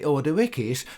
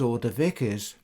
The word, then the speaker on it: Ordovices: should be read as Ordovices. Ordowices is the Greek spelling of the name and would have been the original pronunciation of the Latin as well.